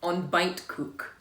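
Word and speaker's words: ontbijtkoek: on to fight cook on bite cook so you don't pronounce the I the J and the T um but on on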